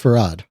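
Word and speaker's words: Fard: There's also like um this This is pronounced Farad.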